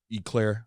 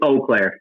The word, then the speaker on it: Eau Claire: Eclair, I believe is how you pronounce it. I believe it's Eau Claire.